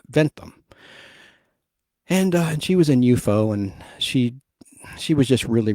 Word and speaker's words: UFO: like unidentified flying object, but they call it UFO, like an enemy. Like it should be spelled UFOE, UFO. That's how they pronounce it in this show.